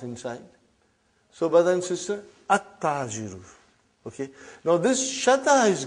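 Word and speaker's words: التاجر: How will you pronounce this now? At-ta-jiru. You did not pronounce al. You did not pronounce lam. Okay, you did not pronounce, you skipped it.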